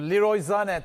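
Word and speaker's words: Leroy Sané: Liroy Zane tabii ki doğru telaffuzu. Burada da alışkanlık olduğu için o alışkanlığı bozmamak adına Sane'den devam ediyoruz biz.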